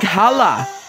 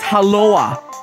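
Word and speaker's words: hallå: on top of it sounds like Hala no it's haloa haloa got it the second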